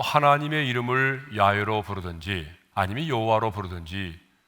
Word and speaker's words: 여호와: 여호와라는 이름이 된 거죠 우리는 영미의 영어 번역을 받아 가지고 영향을 받았기 때문에 재호바라고 하지 않고 그냥 여호와로 부르는 거죠 그래서 불려진 이름이 뭐예요